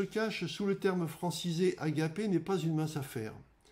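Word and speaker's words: ἀγάπη: Cet amour, qui est associé au mot grec qui se prononce agapé, est le moins calculateur de tous et donc le plus difficile à atteindre.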